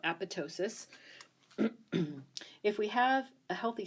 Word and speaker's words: apoptosis: this process called apoptosis AP opt OS is that that T there is silent so Apatow sis if we have a